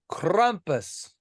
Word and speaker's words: Krampus: over with Krampus Crump krumpus from 2015. it's the crumpus it's krumpus why ain't it spelled with a u then um I don't know